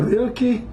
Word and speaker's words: Rilke: And if you like a Rilke, here's your Rilke, rhymes with milky and silky.